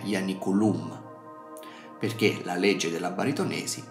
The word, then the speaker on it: Ianiculum: dato che la I è segnata come breve, l'accento retrocede a ia e quindi dovrebbe essere ianiculum.